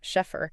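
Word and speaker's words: Scheffer: Yes, Schffer, that's pronounced Sheffer.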